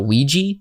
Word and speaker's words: Ouija: I don't know why the common pronunciation of this is now Ouiji because Ouija is a madeup word